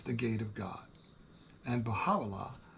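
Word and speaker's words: Bahá: and it means the Gate of God and bahah pronounced bahah it means the glory of God the Bob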